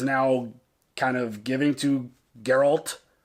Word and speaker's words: Geralt: kind of giving to Geralt Geralt it's a hard G Gerald gerald yeah Daryl okay I got it Geralt um outside of like